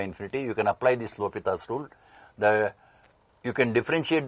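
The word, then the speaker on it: L'Hôpital: is the l'hopital's rule so many students read this says L hospital rule but he is a French mathematician it should be pronounced as l'hopital's rule so this is in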